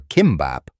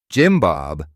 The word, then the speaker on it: Kimbap: The result was him walking into restaurants and confidently asking for Kimbap, but pronouncing it Jim Bob.